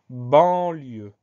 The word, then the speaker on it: banlieue: On pense au son en qui s'écrit an, au son e qui s'écrit e-u et surtout à la lettre finale E, la lettre muette.